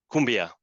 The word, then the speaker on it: Koombea: the inspiration for our Kumbia brand so we basically spell it differently to be able to uh pronounce it in the same way in English that is in Spanish okay okay and but